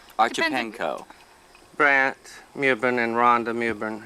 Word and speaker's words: Archipenko: Archipenko. Brant Mewborn and Rhonda Mewborn. How would you pronounce Archipenko?